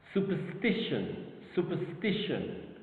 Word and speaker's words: superstition: Superstition. Of course, the 3rd syllable is superstition. Alright, the 3rd syllable is the stressed syllable.